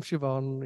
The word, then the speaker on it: Siobhan: And she went, oh, I'm Siobhan, ha ha ha. And I'm like, that's how you fucking say it.